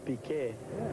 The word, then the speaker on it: Piquet: In Portuguese we pronounce Piquet.